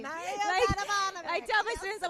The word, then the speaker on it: Mario Dedivanovic: And how to say his name, Mario Dedivanovic. That's how you say his name. Mario Dedivanovic.